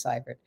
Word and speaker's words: Seivert: It's spelling is EI, pronunciation is Seivert.